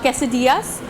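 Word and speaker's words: quesadillas: बनाएंगे कैस दियास यस और इसकी प्रोनाउंस एशन में थोड़ी सी लोग गलती करते हैं कैस दला लिखते हैं लेकिन प्रोनाउंस कैस दियास करते हैं साथ साथ थोड़ा सा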